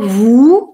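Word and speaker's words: vous: Теперь слово «ву». Мы тоже его уже видели. На конце не произносим согласную.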